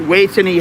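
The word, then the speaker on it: Vejthani: thing so we're at way to knee hospital now way to me with a v because that's how they say it in thai the v is a w war ran and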